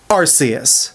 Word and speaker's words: Arceus: pronunciation and it's because every rule and precedent of English we have that applies to this word predicates it is pronounced arus.